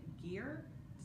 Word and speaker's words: Gier: that is by Kirsten Gere Gier is how you pronounce her last name how you spell it